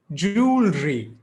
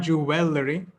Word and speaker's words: jewellery: how to pronounce it jewellery not jewelry not juvelry jewelry keep it simple joule